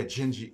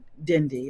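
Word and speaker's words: Dindi: like that so yeah gingy genji she yeah and it's where it's spelled d-i-n-d-i right portuguese it's the d-is which is why i didn't say the name yeah i don't know like yeah the next song i'm gonna listen to is dindy even musicians they all say dindy and you know until i correct them hey can you sing dindy like that's not even how you say it so you know so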